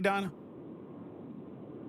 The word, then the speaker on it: Dina: Am I pronouncing that correctly, Dinah? Is it Dinah or Dina? It's Dina.